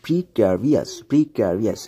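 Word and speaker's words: precarious: আমরা যদি প্রিক্যারিয়াস শব্দটিকে ডিকশনারি থেকে দেখে নেই, খেয়াল করুন এই প্রিক্যারিয়াস যেটির উচ্চারণ হচ্ছে প্রিক্যারিয়াস, অ্যাডজেক্টিভ হিসেবে বসে সেটি হচ্ছে অনিশ্চিত, আশঙ্কাজনক বা দৈবাদীন।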